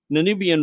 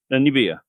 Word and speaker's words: Namibia: he's originally from the country of zanibia yeah i don't think you're saying it right you want to take a crack at that person well namibia yeah maybe is the guy